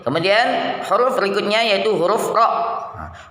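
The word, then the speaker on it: ر: Kemudian huruf berikutnya yaitu huruf ro. Huruf ro, cara pengucapannya yang pertama, pinggir lidah bagian ujung dengan sedikit permukaan lidahnya ditempelkan pada gusi atas, gusi pada dua gigi seri bagian depan. Nah, ro.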